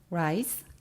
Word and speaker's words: rise: 증가하다 grow의 동의어로는 increase, rise, ascend가 있고요. 여기서 주의할 점은 rise의 s는 z 발음이에요. 이거를 rise, 스로 발음하시면 쌀이라는 의미가 되니까 주의하시고요.